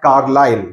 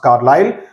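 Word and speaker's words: Carlisle: all the while while he was busy at carile that's how it is pronounced carile where he greets the station Master with Elation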